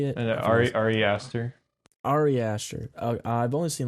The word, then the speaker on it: Ari Aster: And I forget his Ari Aster.